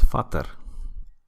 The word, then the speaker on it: Vater: Because in German it's Vater. But Vader, spelled like this, is Dutch.